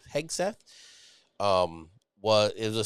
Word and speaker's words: Hegseth: new SEF The Honorable heg heg Seth I think is how you say his name heg Seth um was it was